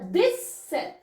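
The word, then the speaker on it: dix-sept: रही है अब ठीक है 16 तक बताया दिस सेथ दिस सेथ यानी 17 को दिस सेथ बोल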